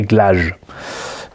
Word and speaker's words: Glaug: j'aime beaucoup, qui est, je le prononce à la française, le Glaug, G-L-A-U-G, et que a priori les Japonais diraient Glage. Ça se prononcerait Glage.